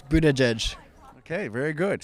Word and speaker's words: Buttigieg: How do you pronounce his last name? Buttigieg. That's the fifth different way. How about you? It's Buttigieg.